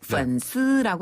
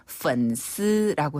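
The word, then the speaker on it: 粉丝: 중국에서는 그 팔로워를 바로 펀스라고 하는데요. 네. SNS에서 이 친구를 맺을 때 내 소식을 받아보는 사람을 팔로워라고 하잖아요. 네. 원래 팬이라는 그 발음을 중국식으로 바꾸면 펀스라고 해요.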